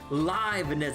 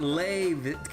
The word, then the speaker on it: Leibniz: No, it's Leibniz, not Leib. God, I swear it's like a 50-50 with this shit.